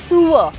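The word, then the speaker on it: sewer: अब उसको हम सीवर सीवर सीवर सीवर बोलते हैं। दैट्स रोंग। हां। Actually the correct way टू से इट इज सूअर।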